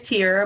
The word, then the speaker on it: Tierra: Next person we have is Tierra. Tierra, do you want to say hello? Yeah, thanks, Tasman. It is Tierra, but it doesn't matter.